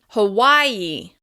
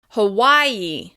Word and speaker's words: Hawaii: As I mentioned, you'll hear mainland Americans say Hawaii, and the stress will still be on the second syllable. Hawaii, Hawaii.